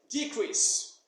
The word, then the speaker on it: decrease: as you know that when a word is a noun the stress normally falls on the first syllable so as of now you'd say decrease come in for example